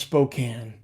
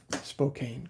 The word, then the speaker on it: Spokane: trying to troll me here aren't you it's pronounced spokane but i needed to rhyme it in the song so i called it spokane good to see you daniel's in jackson a